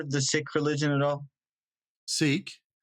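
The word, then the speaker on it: Sikh: the religion at all sik heard it's pronounced sick yep I've heard of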